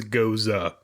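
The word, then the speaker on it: Gose: pronunciation guy in the back for how to pronounce stuff and yeah it is goza so because chris was like why don't you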